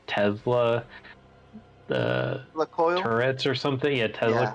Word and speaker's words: Tourette: So It's pronounced turrets.